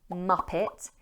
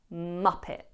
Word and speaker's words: muppet: When pronouncing the word Muppet, it has 2 syllables and the stress is on the first syllable. Muppet.